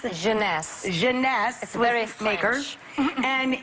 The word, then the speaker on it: Jeunesse: eight ageless what's the company how do you pronounce it jeunesse jeunesse and it's less than 75 retail with